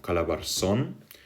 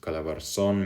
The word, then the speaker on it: Calabarzon: So if you're talking of Calabarzon, you have the first syllable of Cal, or not Cal, Ka, so Ca, so it's written Calabarzon like this.